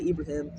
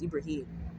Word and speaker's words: Ibrahim: Not Ibrahim, but you may know me as Habib Ibrahim or Abraham, because people always say my name wrong. It's Ibrahim. It's literally in the Quran.